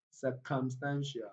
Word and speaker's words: circumstantial: So we move on to come. Come contains this central vowel sound, and it's also a strong vowel sound. So the stress pattern falls on come, come, circumstantial, circumstantial.